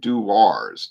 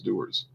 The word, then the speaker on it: Dewar's: people get very defensive i always used to pronounce it do wars do ours yeah i didn't know what it was either but i i saw people saying doers and then i saw some videos produced by doers so then i knew